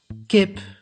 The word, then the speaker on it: kip: The I as short vowel is pronounced as E and as long vowel as I. Kip means chicken. Lief means lovely.